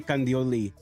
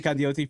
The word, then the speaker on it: Candioti: Okay, Fernando Alonso from Peru, and Jose Candioli. Candioti? Is it a T or yes. I? Ken Dioti. Okay, Jose Candioti from Peru and Coper from Peru.